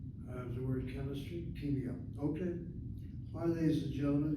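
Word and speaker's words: כימיה: But the proper spelling, based on the dictionary I have in Ben-Yehuda's dictionary, pocket dictionary, the word should be chemia, put the dagesh kaf in that kaf letter.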